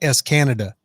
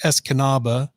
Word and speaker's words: Escanaba: you once I crossed the EEP would be Escanaba Escanaba it looks like s Canada or SG is Canada but it's pronounced Escanaba Michigan and then I would come down to